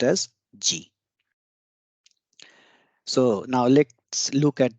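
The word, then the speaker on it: 時: that this symbol represents time and it is pronounced as G so now let's look at the clock one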